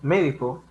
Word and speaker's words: medicó: Cuando médico lleva tilde en la última sílaba, la sílaba co, ya no se pronuncia médico, se pronuncia médico, y hace una referencia a tiempo, ¿no?